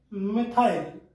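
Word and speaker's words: methyl: क्या बोलेंगे, मिथाइल, और से मैथिल भी बोलते हैं, प्रोनाउंस अपना अलग अलग तरीका।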